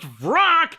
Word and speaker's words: Vrak: Except his name is pronounced Vrak, so the rhyme doesn't work.